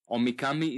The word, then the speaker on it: Omikami: Omikami is spelled O-M-I-K-A-M-I.